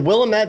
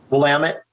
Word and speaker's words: Willamette: ride the dunes yeah yeah is is the willamette valley is am i saying it right the willamette valley willamette willamette okay is that a llama five is